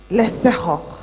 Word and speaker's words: Leapfrogg: It's a Setswana word. The G is pronounced H. Leapfrogging.